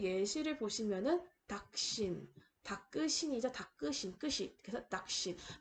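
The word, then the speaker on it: दक्षिण: 그래서 닭신. 마치 앞에 나오는 음절의 끄가 앞에 나오는 음절의 받침처럼 발음이 될 거예요. 그래서 닭신.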